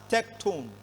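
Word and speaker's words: τέκτων: the meaning of tecton tecton is a Greek word pronounced as tectone from which we derive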